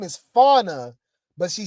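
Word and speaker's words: Fania: saying her name is Fauna, but she spell it f a n i a. So fine. It's spelled like fine, right? Or faia, however, right? But pronounced fauna.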